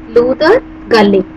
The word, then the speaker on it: Luther Gulick: Now, there is an economist by name Luther Gulick. Pronounce it Luther Gulick.